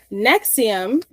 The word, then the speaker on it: NXIVM: Nexium, one second. It's spelled so weirdly too.